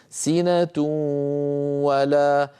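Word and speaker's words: سِنَةٌ وَلَا: حركه وليس عليها شده هذا دليل على ان النون يعني يعني التنوين بقي جزء منه لم يدغم وهو الغنه سنه ولا لو وضعنا فوق الواو شده لصار النطق سنه ولا نوم سنه و ولكننا لم نضع شده لانه ادغام ناقص هو ادغام بغنه المثال الثاني شيء وكيل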